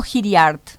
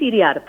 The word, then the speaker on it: Iriart: ¿Es Iriart o Hiriart? Es Iriart. Iriart, perfecto. Así como se escribe suena.